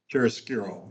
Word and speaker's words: chiaroscuro: It's called, how do you pronounce it? Nick Chiaroscuro, right? Chiaroscuro, yeah.